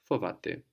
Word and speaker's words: φοβάται: Fovate.